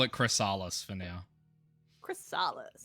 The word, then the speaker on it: Chrysalis: Let's just call it Chrysalis for now.